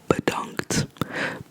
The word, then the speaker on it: bedankt: I want to say thank you, which means bedankt. Bedankt again, because it's a short E sound.